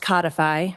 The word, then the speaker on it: codify: Um, so assuming that I understand the phonetic symbols in the dictionary, it is pronounced codify, rhymes with modify.